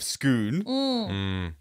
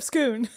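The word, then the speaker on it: Scone: thanks it to clarify it is pronounced schoon but it is spelled s-c-o-n-e that is correct okay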